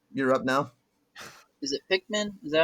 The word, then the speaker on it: Pikmin: Is it Pikmin?